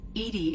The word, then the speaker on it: EDI: a specific inquiry why are you named Edie Edie is the phonetic pronunciation of EDI that is an acronym for